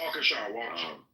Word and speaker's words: Waukesha: Waukesha.